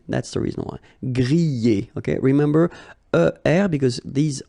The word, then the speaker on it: griller: This combination of two letters, ER at the end, will give you the sound E, all right?